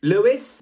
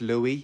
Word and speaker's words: Louis: Lewis. Yo, bro, it's Louis.